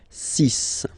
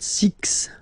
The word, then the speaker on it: six: get the sis pronunciation sis okay so it's not six it's sis all right then here